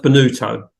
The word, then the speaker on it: Bonutto: Well, it's pronounced Bonutto. But see, I don't think I would have got that. Okay, Bonutto.